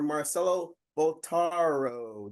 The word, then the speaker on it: Marcelo Bottaro: Give it up, everyone, for Marcelo Bottaro.